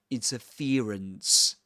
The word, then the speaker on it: interference: So, in this accent, this ear diphthong is usually replaced by an E sound. So he says interference.